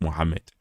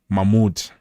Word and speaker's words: Mahmoud: Yesterday I was busy saying Mohammed. It's not Mohammed. You guys are not even correcting me. Mahmoud.